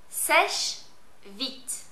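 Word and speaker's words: Sèche Vite: Seche Vite.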